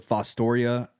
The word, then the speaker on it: Fostoria: Is it Fostoria, Ohio?